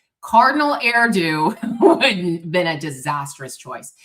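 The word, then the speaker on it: Erdő: uh, uh, uh, Cardinal Erdo rhymes with hairdo from Hungary.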